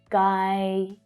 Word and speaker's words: Guyana: The stress here is on the second syllable, but the first syllable also includes a stronger vowel sound. Guyana, Guyana, Guyana.